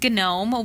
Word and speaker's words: GNOME: way but he says gnome which I realize like that doesn't sound too classic doesn't I don't love that Martin if you're watching silent G we're going with a silent G it's gnome I know